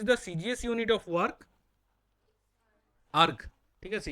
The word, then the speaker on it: erg: আর্গ। ঠিক আছে, ইআরজি, এটা প্রোনাউন্সিয়েশন হলো আর্গ।